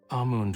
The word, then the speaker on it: Amund: Amund won't return for some time. Your highness may rest. Oh, it's Amund. I'll keep mispronouncing it, I don't care.